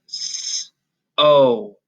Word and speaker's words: so: You can hear the long O sound, O, at the end because it's in an open syllable. It's not trapped in the middle, so it gets to make its long sound instead of the short sound.